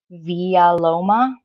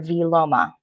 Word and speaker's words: vilomah: child had died so there's two accepted pronunciations of the word the word may be articulated as via Loma with the ah in the middle or V Loma the group that I'm